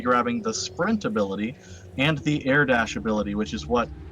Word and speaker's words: Fe: name of this game Thea that's f e it's a Swedish pronunciation it is on origin